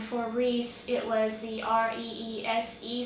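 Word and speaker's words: Rhys: And for Reese, it was the R-E-E-S-E spelling instead of the R-E-E-C-E spelling or R-H-Y-S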